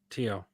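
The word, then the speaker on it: Thiaw: Malik, is it Tio you pronounce his surname? Malik Tyak, I think. Tio.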